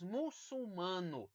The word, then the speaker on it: muçulmano: muito comum essa né Nós temos muçulmano Olha onde fica o l na segunda sílaba da palavra e não na primeira sílaba certo muito bem vamos